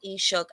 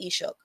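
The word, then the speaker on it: Ishak: for our tribe because a lot of people know eshook as um i'm sorry if i'm not saying it a hundred percent correctly but i don't pronounce it i don't pronounce our name in that way i i pronounce our original name ishook and that is what my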